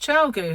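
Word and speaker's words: ChiaoGoo: knit pros i have clover and tulip and chow goo yeah it's pronounced chao gu who'd have thought that but we do and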